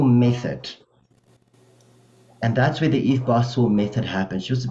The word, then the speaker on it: Eve Boswell: So you have, So who is, I don't even know if I'm pronouncing it right because I've never heard of him before. Who is Eve Boswell?